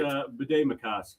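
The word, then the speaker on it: Bde Maka Ska: Um I can't get the pronunciation right. Bed Macausa.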